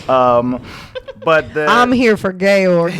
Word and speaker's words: Georg: But the, I'm here for Georg, not those kids. Georg. Thought it was George the whole time. Yeah, they. You did? I mean, it's spelled G E O. But they were saying Georg a lot.